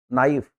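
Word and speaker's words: knife: ठीक है इधर देखिए जब एन के पहले के आ जाता है य साइलेंट होता है इनका उच्चारण एन से शुरू करेंगे नीड नाउ नाइफ नॉलेज है ना नॉलेज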